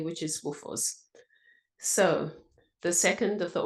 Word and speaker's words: WFOZ: pronounced a bit differently it's pronounced in the Zimbabwean way which is Woos so the second of